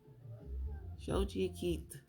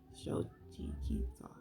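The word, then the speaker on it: Xochiquetzal: It says pronounced Shochi Shochi Keith. So Shochi Keith is the Aztec goddess of fertility and household arts and is deeply connected to the natural world.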